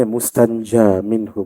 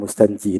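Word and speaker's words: مستنجى منه: Tadi bacanya mustanja minhu, bukan mustanji. Yang atas tu orang tu baru mustanji.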